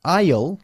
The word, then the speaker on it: aisle: aisle. Pasillo. De Yeah. avión. De cine. Yeah, that's difficult to pronounce, isn't it? Aisle. Aisle. Aisle. Aisle. The pronunciation has nothing to do with the way it's written.